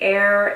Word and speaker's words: Eir: Next, this is a sunset oil by Air NYC. It's spelled E-I-R NYC.